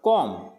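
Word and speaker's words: comb: आ रहा है तो बी क्या रखना है, साइलेंट रखना है, तो ये हो जाएगा कॉम।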